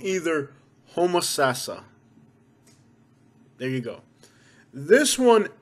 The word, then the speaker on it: Homosassa: say this one wrong the proper way of pronouncing this one is homosassa homosassa you know like okay